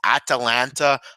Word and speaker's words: Atalanta: I'm aware that it's Atalanta.